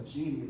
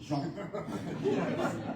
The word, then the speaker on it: Jean: Well, she let us call her Jeannie, but the real pronunciation was the French Jean.